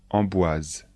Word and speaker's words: Amboise: château de Chenonceau chenonau le château de Chenonceau Amboise le château d'emboise emboise le château d'Amboise pour